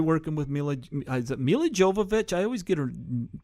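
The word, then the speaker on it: Milla Jovovich: Is it Mila Jovovich? I always get her mispronounce her name. Mila Jovovich.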